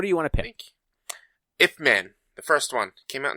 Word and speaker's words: Ip Man: It's a IP Man Kung Fu movie. Yeah, IP. I think it's supposed to be Ip Man. I don't think it's IP Man, but it is spelled IP Man.